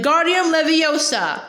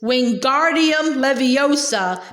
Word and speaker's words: Wingardium Leviosa: much more luck when guardian Leviosa he shouted waving his long arms like a windmill you're saying it wrong Harry heard Min snap it's Wingardium Leviosa make the guard nice and long you do it Ben